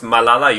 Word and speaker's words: Malala: and this is by the way it is pronounced Malala you should say yeah and the Irish Republican